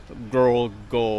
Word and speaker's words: Krol Ko: know it's also mispronounced cuz I think they say a G instead of the k sound so it' be like girl go or something like that so uh let's go